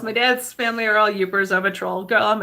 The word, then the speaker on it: Yoopers: the people that are in the upper penances Yoopers and that's for you P but we say it you know it's pronounced y oo pers and the people in